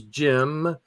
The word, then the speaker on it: Cem: Would you have said Jim if that's what you saw right there? CEM. Wait. Oh, really? That's Jim. Um, That's pronounced Jim.